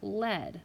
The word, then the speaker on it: lead: This word, led, I'll say it as lead first because I matched it with the long sound, the green, is spelled EA. So you have consonant, vowel, vowel, consonant. So that's saying E, but you can also say it as led. So it could go under both of those colors.